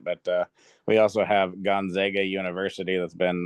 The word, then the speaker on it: Gonzaga: and stuff and uh it's fun hearing the announcers call it Gonzaga because they want to try to make it sound all fancy and stuff but no just gona oh that's such yeah